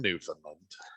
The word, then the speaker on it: Newfoundland: in my homeland actually is josh is from newfoundland i am from an island and i pronounced it correctly i like credit yeah yeah